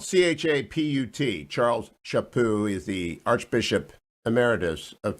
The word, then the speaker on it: Chaput: of the morning you ought to go get shapu's book it's spelled c-h-a-p-u-t charles shapoo is the archbishop emeritus of philadelphia things worth